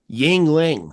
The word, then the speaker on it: Yuengling: Yuengling, that's how you pronounce that.